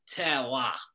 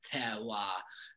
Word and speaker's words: terroir: If you can, try to say it like a Frenchman. Okay. Terroir.